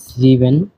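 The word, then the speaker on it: sieben: বলা হয় জেক্স জেক্স সাত কে বলা হয় জিভেন জিভেন আট কে বলা য় আ নয় কে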